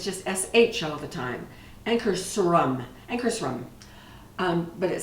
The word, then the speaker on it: Ankarsrum: I usually put flour first, but everything I've seen with the Ankarsrum, did I say it right? It's close. It's better than it was. Ankarsrum. Yeah. I keep wanting to put an H in it.